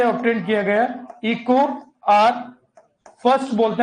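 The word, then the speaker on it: EcoRI: से ऑब्टेन किया गया इको आर फर्स्ट बोलते हैं, तो इको कई बार इसको इको आर ही पढ़ देते हैं, आई नहीं, ये फर्स्ट है, इको आर फर्स्ट कहते हैं।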